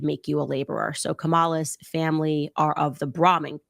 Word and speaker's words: Kamala: So I remember her putting the emphasis on the second syllable. So it was like Kamala. Kamala was how she pronounced it. Not Kamala.